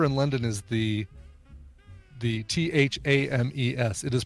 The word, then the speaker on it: Thames: show the river in London is the the th a.m. es it is pronounced Thames it is not tames everyone in the US and the UK knows